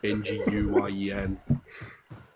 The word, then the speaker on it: Nguyen: I choose to imagine that you're not saying wing as in W-I-N-G, but wing as in like the Vietnamese N-G-U-Y-E-N. Is that how you pronounce that?